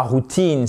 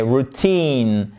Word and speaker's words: routine: Et c'est pas routine, c'est routine. Accentuation sur la Exactement la deuxième syllabe.